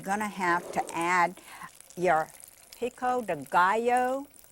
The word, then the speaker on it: pico de gallo: have to add your pico de gallo the only way i can remember how to pronounce it is because it rhymes with bio so i mean you